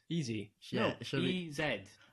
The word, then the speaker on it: EZ: gonna be discussing superstitions easy you must be British if he says ed instead of Z DJ EZ pronounced easy oh wow do is British that's why says that may be easy was taking mr.